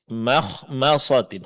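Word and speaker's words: مخمصة: Di sini kedua huruf mim mesti tipis. Dan kesalahan yang sering terjadi adalah huruf mim di sini ditebalkan. Makhmasatin. Yang benar makhmasatin.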